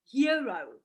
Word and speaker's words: Hyro: It's pronounced hero, but it's spelt Hyro.